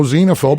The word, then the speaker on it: xenophobe: that one well again that starts with a z you would think but no it's another x word so it's no phobia in case you don't know xenophobe or xenophobia that is